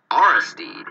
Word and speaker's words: Aristide: Aristide? That's how you pronounce it.